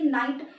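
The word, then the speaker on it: knight: जैसे कि नाइफ, तो नाइफ में आपका केस साइलेंट हो जाता है, जैसे कि नाइट, नाइट में भी आपका केस साइलेंट हो जाता है।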